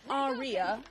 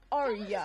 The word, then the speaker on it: Arya: But it's not Arya, it's Arya. It's just Arya. Arya. Like 2 syllables.